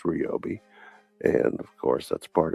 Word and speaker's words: Ryobi: A lot of it is Robi, not Ryobi. There's a difference. It's pronounced Robi.